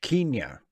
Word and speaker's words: Kenya: Kenya. Pronounced in the British fashion.